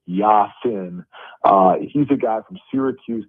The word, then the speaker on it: Yasin: And I think when you add in Yasin Willis, and he pronounces it Yasin, he's a guy from